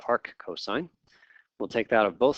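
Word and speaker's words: arccos: to the ne1 or a RC cos that's pronounced Arc cosine we'll take that of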